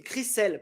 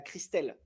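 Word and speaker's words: Chrishell: Crisel pas Christel. Ah Christel pas de T, c'est Cry.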